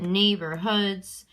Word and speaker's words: neighborhoods: And when I say it, neighborhoods, it seems like there's 2 stresses in there. Okay, so that second syllable in the 3-syllable word is unstressed, and the ones on either side are going to be stressed.